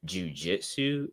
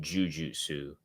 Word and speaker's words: jujutsu: Yeah, cuz sometimes it it's technically not jiujitsu. It's like jujutsu is like technically how you say I always say jiu-jitsu cuz like you know it just it just happens.